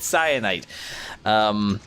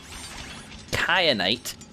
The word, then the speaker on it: kyanite: I need Kat kyanite I have indeed been pronouncing that wrong nowhere in English is a cape reduce with the soft C sound I apologize for the head why I said cyanide kyanite I mean I'll try